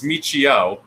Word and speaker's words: Michio: oh and and I it's Michio so HIO and then Kaku with no with only one you at the head but yeah anyway whatever